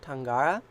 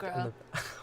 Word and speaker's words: Tanagra: Darmok and Gilead are the best at Tangara. Oh, Darmok and Jalad and the beast at Jalad Tanagra. Wow, I cannot pronounce things.